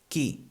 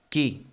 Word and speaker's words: qui: We also have the question word qui. Qui. Qui is spelled Q-U-I, en català Q-U-I. And again, the U here doesn't sound, we'd say directly qui.